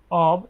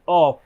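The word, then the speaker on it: of: হ্যাঁ, অব এর বাংলা, আচ্ছা, এটা হচ্ছে যে ও এফ, মানে উচ্চারণ হয় কি অফ, কিন্তু অফ না, উচ্চারণ করবেন হচ্ছে অব।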